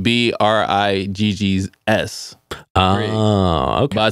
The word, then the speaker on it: Briggs: I took out, because it's spelled B-R-I-G-G-S.